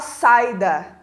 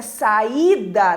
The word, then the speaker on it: saída: pronunciado também com intensidade o que ninguém fala saída para esse ficar fraco é apagado lá né a pronúncia saída tanto que tem um acento ali nesse e também saúde saúde Então